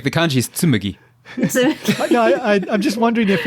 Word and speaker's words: Tsumugi: Number 4 is, I think it's a bit hard for English-speaking people to pronounce, but tsumugi. Oh, yeah. Tsumugi with a mu? Tsumugi, yeah. Mami mume mo tsumugi.